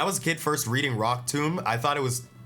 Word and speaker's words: Rock Tomb: Hey, Zona said, "When I was a kid first reading Rock tomb, I thought it was I thought Tom rhymes with bomb."